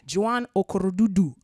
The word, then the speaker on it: Joan Okorodudu: Joan Okorodudu.